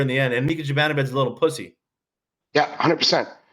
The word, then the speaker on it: Zibanejad: Is that the Canucks declined a 1-for-1 offer for JT Miller for Mika Zibanejad or Mika, whatever how you pronounce it.